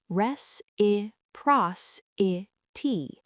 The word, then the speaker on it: reciprocity: Pronounced res I pros I t.